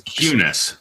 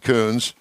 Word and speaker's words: Kunes: given uh the privilege of knowing how to pronounce your last name. I wasn't either. No, that's all right. Yeah, it's Kunes. But that's all right. Kunes.